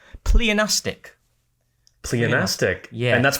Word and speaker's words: pleonastic: It's pleonastic. Pleonastic. Yeah. And that's pronounced right?